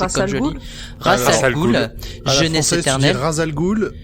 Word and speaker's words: Ra's al Ghul: vais prononcer un joli ra's al ghul jeunesse alternèrent al ghul en anglais cool ils disent rech al ghul d'accord rech al ghul